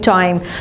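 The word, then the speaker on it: chyme: Now sometimes we are pronouncing this word kaim, or sometimes we are saying chime.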